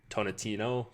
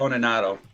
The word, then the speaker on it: Toninato: I can never pronounce his name. Dominic Tonatino? Tonatano? Yeah, something like that. Toninato.